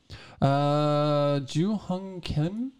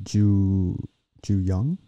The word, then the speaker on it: Ju Young: Ju Hung Kim? Is that how I said that? I think it might be Ju Young. Ju Young. Oh, yeah. H is silent.